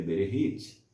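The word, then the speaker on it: בראשית: O primeiro livro se chama Bereshit, conhecido, se formos fazer a tradução correta, a pronúncia correta, SH e CH no hebraico ele tem som de RR, então seria Bereshit. Depois Shemot, ou Remot.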